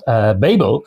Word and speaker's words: Babel: I mean, one of my books, Babel, many people call it Babel, even though there's only one B in the middle.